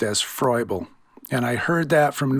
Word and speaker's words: Froebel: Nobody really interacted with Froebel, at least in English.